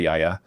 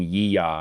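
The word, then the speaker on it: yiayia: Everybody kept on saying ya. And I was like come on. It's yaya.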